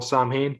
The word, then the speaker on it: Samhain: the the pagan festival samhain yeah y'all know it isn't actually pronounced like that it's just spelled like that it's actually pronounced sound or something um but um it